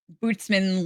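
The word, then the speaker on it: Butzemann: demon that scares children uh the the word bootsman literally translates to Boogeyman um it's a faceless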